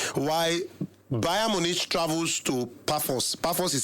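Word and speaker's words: Pafos: Then Marcel will host Amsterdam while Bayern Munich travels to Puffos. Pos is spelled P A F O S five goals. Puffos.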